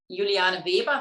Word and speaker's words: Juliana Weber: having me um i'm juliana weber that would be the proper german pronunciation i was actually born